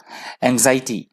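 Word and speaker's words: anxiety: है एटी माफ कीजिए मैंने पहले एन भी प्रोनाउंस कर दिया क्षमा चाहता हूं माफ कीजिएगा एंजाइटी एंजाइटी तो उसे बोला जाता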